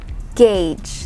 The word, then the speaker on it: gauge: share with you is the word gauge gauge that's how you pronounce it even though the vowel is a u and it's supposed to sound as o but no it is pronounced as gauge not gauche gage gauge say it okay